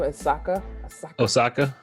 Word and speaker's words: Osaka: How do you pronounce her last name? Osaka.